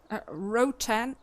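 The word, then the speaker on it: Ротан: Rotan is actually how you pronounce it in Russian.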